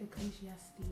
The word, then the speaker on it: Ecclesiastes: Ecclesiastes.